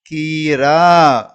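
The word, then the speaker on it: खीरा: Next one பாருங்க, இந்த எழுத்து கீ கீ நெடில உச்சரிக்கணும். கீ அப்படின்னு. இது ரா ரா கீரா கீரா அவ்வளவுதான்.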